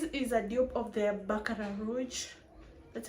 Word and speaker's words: Baccarat Rouge: This is a dupe of the Baccarat Rouge.